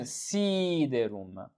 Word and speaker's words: siderum: you have a long, because even siderum, the accent is on C. Siderum.